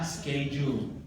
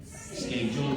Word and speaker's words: schedule: Oke, selanjutnya adalah schedule. Schedule tulisannya, tapi di orang Inggris membacanya schedule. Bukan schedule, tapi schedule. K-nya dari baca schedule.